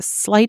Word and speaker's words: sleight: Sleight and slight are pronounced identically.